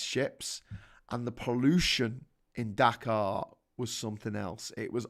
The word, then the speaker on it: Dakar: the capital of uh bangladesh is dakar with a h whereas the capital of senegal is dakar with an r so they're pronounced the same but um different but